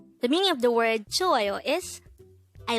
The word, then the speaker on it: 좋아요: JOAYO. JOAYO. This is pronounced as a three-syllable word.